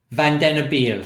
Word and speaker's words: Vandenabeele: Can you just let us know how well you know the work of Philippe Vandenabeele? Vandenabeele. Right. Vandenabeele. Can you pronounce it, Dinah? Vandenabeele.